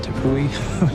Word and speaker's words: Tepui: They're actually based off of this word I will mispronounce called Tepui, just like these Brazilian plateaus.